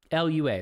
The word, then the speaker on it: Lua: on it 100% be a wow add-on Lua luua that's how you pronounce it Lua right he's a big Lua guy is he